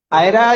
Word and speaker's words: Ira: Ira is the pronunciation.